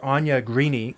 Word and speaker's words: Aine Greaney: our guest today is if I'm pronouncing your name right Anya greeny who's a new report-based writer uh Anya can you hear me yes I can and my pronunciation the name is is pretty good that's correct correct excellent um so I